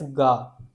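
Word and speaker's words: が: Like in K in K which is For example, if I take CA and give it dakuten, then it won't be pronounced as ka. Now it is pronounced as ga ga. There is a little vibration ga.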